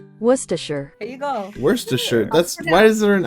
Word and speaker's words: Worcestershire: Oh, it is Worcestershire. Worcestershire. There you go. Worcestershire.